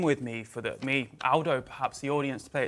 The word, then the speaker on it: Aldo: He picked me up, but it's Aldo, not Aldo. Aldo is a very British pronunciation of an Italian name.